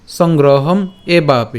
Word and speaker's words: সংগ্রহমেবাপি: এখন এখানে একটা একার আছে, তো একারের সাথে আমরা পরের অংশটা উচ্চারণ করবো, তার মানে কেমন হবে? এ বাপি, সংগ্রহম এ বাপি, ঠিক আছে, লোক সংগ্রহম এ বাপি।